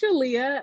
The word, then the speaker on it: Shaleyah: right yes I mean you put an extra emphasis on that shot but it's Shalia and what I like to tell people is that it rhymes with Aaliyah and that kind of helps to see with the word association but yes I'm Shalia